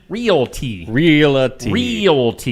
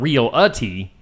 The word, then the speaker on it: realty: Realty. You know, I was told recently that there is no in realty. It's not real-a-tea, it's realty. People tend to mispronounce that.